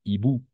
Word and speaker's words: hiboux: Les hiboux. Les S muet. Hibou. Muet. Se prononce les hiboux. N'est-ce pas? Les hiboux. X à la fin est muet. D'accord? Pas e-books, non. Hibou. Pourquoi? Parce que le X est muet.